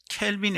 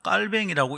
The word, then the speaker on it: 깔뱅: 아우구스티누스는 아우구스티누스라고 읽어야지. 그 사람을 어거스틴이라면 자기를 부르는 줄 모를 겁니다. 켈빈이 아니라 깔뱅이라고 읽어야 자기를 부르는 줄 알고 그 사람의 이름에 합당한 발음이 될 겁니다.